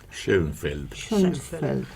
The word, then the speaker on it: Schoenfeld: Schoenfeld. Qué bien se pronuncia.